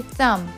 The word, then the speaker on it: thumb: First word where B is silent, it's thumb. We don't say thumb. We say thumb.